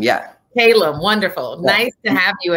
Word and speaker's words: Calum: today please correct me am i pronouncing your name correctly yeah it's caleb yeah caleb wonderful nice to have